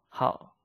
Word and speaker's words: 好: 爱好 I love 好 like. So remember, this 好 the same character as 好 which means good. But if the meaning is 好 like, you have to pronounce it in fourth tone.